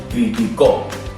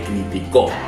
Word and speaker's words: criticó: ¿Veis que es la primera, es la misma palabra, pero con una acentuación diferente? Dependiendo donde vayas a acentuación o donde esté la palabra, la sílaba tónica, será aguda, llana o esdrújula.